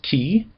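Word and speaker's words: χῖ: And then the next one is key. And it sounds like the ch in lock.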